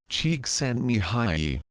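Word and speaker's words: Csikszentmihalyi: in positive psychology today is Hungarian American professor mik myi in case you're wondering his last name is pronounced Chek s Mi High his focus on happiness and creativity led to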